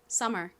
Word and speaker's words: summer: m이 하나 있으나 두 개 있으나 한 덩어리로 그냥 미움 소리가 납니다. 그래서 이렇게머가 아니라 summer이라고 발음해 주셔야 돼요. 자, 미국식 원어 발음으로 발음 연습 같이 해 볼게요. summer 한번 내보겠습니다.